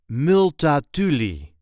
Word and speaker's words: Multatuli: This is the way we say multatuli matuli. There is a light emphasis on the third syllable.